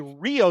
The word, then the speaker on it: REO: If you're pronouncing it properly, it's actually Rio Speedwagon. The the the vehicle was not REO speed. is a Rio Speed Wagon, but the